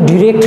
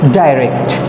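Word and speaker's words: direct: So let's পরীক্ষায় হচ্ছে তোমাদেরকে ন্যারেশনে ডাইরেক্ট স্পিচ থাকে এবং এটাকে ইনডাইরেক্ট করতে হয়, অর্থাৎ এটার উচ্চারণ কিন্তু ডিরেক্ট না, এটার উচ্চারণ হচ্ছে ডাইরেক্ট।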